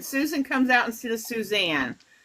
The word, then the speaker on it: Suzanne: before my ex found out my name was Suzanne and not Suzanna I just I just thought he called me